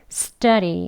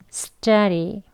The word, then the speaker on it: study: 짜리 이렇게요 강세 6 이제 이름 절에 있었으니까요 숫자 리 이렇게 발음합니다 같이 해볼게요 숫자 리 숫자 리 빨리 발음하면 10자리 숫자 리 이렇게 발음 해주시면